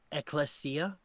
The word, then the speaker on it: ekklesia: So here's what happened: is the Greek word for church or community is ekklesia.